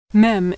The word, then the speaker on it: mem: Mem is pronounced M as in Mary.